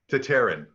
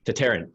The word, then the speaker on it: Tataryn: Tataryn. Tataryn. Yeah, okay, Tataryn. There's no R in the first TA. That we are from the Tartars, but we've given that part up. We're just Tataryns now.